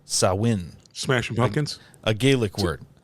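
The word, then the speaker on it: Samhain: the s m Ha i n which is pronounced sawin Smashing Pumpkins a gelic word it's a page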